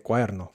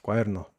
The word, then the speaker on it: cuaderno: Viene y hace lo mismo con la D de cuaderno, que probablemente ya sabes, ya has escuchado hablar de que la D entre vocales, como en la palabra todo, no se pronuncia de forma muy fuerte. Es más como todo todo, pero cuando se habla rápido se puede pronunciar más o se puede perder la D.